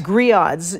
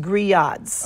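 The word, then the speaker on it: grillades: that's a very native New Orleans dish griot Gris odds G you would pronounce it it's spelled GRI ll a DES but pronounced Gris odds okay okay it's it's something that's served at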